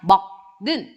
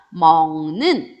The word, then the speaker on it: 먹는: 그럼 얘 발음 어떻게 하냐면 먹는 이렇게 하면 듣기 힘들잖아요. 그죠? 그래서 발음을 좀 더 편하게 하기 위해 앞에 기역을 비음으로 만들어줘요. 같은 자리에 있는 비음으로 만들어준다 했죠? 기역과 같은 자리에 있는 비음은 이응입니다. 그래서 어떻게 발음하냐면 먹는 이렇게 발음을 해준다라는 거죠.